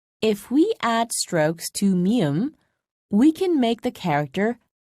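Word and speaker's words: 미음: we add strokes to mium we can make the character like meme is pronounced by putting your lips together first and then opening them while mium is a nasal sound pip is not listen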